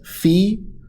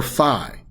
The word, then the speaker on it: phi: that omega, and also either you can pronounce it as phi or phi. Not fo or fum. Just phi or phi are both correct pronunciations of that one right there, okay?